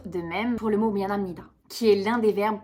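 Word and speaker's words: 미안합니다: prononciation est totalement différente on ne prononce pas en coréen mianapnida on prononce mianamnida parce que le PE devient un me ouais je sais ça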